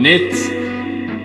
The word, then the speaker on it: knit: K for that one, knit, silent K for that one, not to be confused